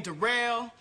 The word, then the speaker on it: Derell: yeah uh my name derell it spelled like Daryl but it's pronounced derell uh yeah I just